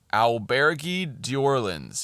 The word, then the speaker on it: Auberge d'Orleans: "Auberge d'Orleans," he finally was able to read. Um, and I said it like that mainly because the book says that is how he pronounced it.